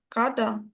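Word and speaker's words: cada: Ее када када. Угу. Тільки д такий трошечки стомлений. Када.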